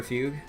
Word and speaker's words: Fugue: yeah I did learn the pronunciation is fugue because it's a musical term for some kind of